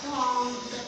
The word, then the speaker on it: prend: Aujourd'hui, Leïla prend son... Non, pas prendre. Ça c'est le D est muet. On appelle ça un D muet. Ça veut dire, on l'écrit, mais on ne le prononce pas.